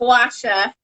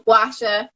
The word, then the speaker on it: Guasha: Linda said you know if you say like guacamole then you can say wash yourself this is the guava here and this is the actual packaging and Linda was holding up actual gwasha I'm so you can